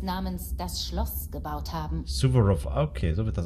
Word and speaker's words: Suvorov: Suvorov, okay, so wird das ausgesprochen.